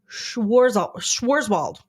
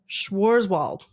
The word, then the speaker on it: Schwarzwald: It's Schwarzwald. Schwarzwald.